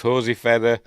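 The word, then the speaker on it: José Ferrer: Stars in an alphabetical order: Francesca Annis, Leonardo Cimino, Brad Dourif, Hosey Ferrer. That's how I pronounce it.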